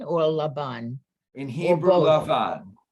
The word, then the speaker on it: Lavan: Lavan. In Hebrew, Lavan. In English, it could be Laban.